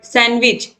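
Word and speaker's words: sandwich: question number 54 है विच letter इस silent सैंडविच तो सैंडविच जवाब बोलोगे सैंडविच नहीं होता सैंडविच होता तो ये जो दी है ये साइलेंट हो जाएगा तो ऑप्शन सी सही हो जाएगा क्वेश्चन 55 है 20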